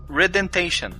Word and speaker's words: Redemption: e o rendation Né o rendamp foi o primeiro tá errada pronúncia Redemption mas ele fez bastante sucesso